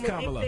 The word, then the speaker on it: Kamala: It is Kamala.